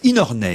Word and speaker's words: McInerney: Mais c'est aussi un livre publié aux éditions de l'Olivier, signé Jay McInerney. J'espère que je prononce bien. Il faut dire Inorney, il paraît.